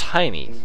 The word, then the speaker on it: Jaime: that time yes sir so apparently it's pronounced Heine interesting I wonder what